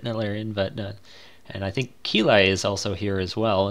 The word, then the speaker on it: Keili: I don't know how you would put it, Naran, but and I think Keli is also here as well.